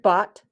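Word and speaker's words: bought: cross that out so it's that's how it sounds but that's not how it's spelled now use a different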